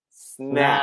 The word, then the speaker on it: snack: So you have to open your mouth. snack.